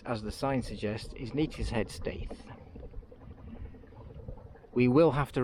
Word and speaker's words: Neatishead: Is that how you pronounce it? Yep, Neatishead.